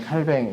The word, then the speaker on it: 칼뱅: 병 이라고 썼을 지 모르겠지 그러니까 다양한 복잡한 발음 들이 있으나 우리는 예 한국어 외래어 표기법에 따르면 칼뱅 이라고 그래 같이 봤으면 좋겠습니다 이름은 장치에서는 짱아